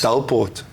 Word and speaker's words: Delport: Delport.